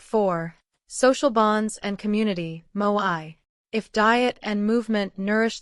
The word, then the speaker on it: moai: This tradition is called moai, pronounced moi, and it may be one of the most important reasons Okinawans live longer, healthier lives.